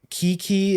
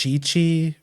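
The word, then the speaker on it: Qiqi: know like like Chi-Chi like how Kiki is actually pronounced Chi-Chi or how Keking is actually pronounced Cuching.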